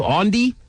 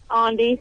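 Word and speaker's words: Aundi: Ondi? Ondi. Ondi. How do you spell that?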